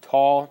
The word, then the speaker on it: tau: I pronounce it tau, T-A-U.